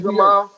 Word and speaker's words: Madrimov: Madrimov, Yeah, Magnum. Yes. I be not pronouncing his name right.